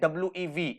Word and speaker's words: Vi: और इस वी को अगर आप देखोगे स्पेलिंग है वी आई, बट हम इसे प्रोनाउंस करते हैं WEV, इसका मतलब हम सब टुगेदर।